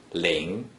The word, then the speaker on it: 零: In other words, no matter how many zeros from the beginning of a small number inside the green circle, it is simply pronounced ling.